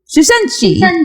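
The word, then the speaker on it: Shincheonji: And if you want to hear how to actually say it one time at the top, this is how you say it. Shushenshi.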